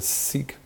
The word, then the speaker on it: Sikh: end the Sikh religion are sick I think is pronounced more like that but it's often her to seek and so I'm not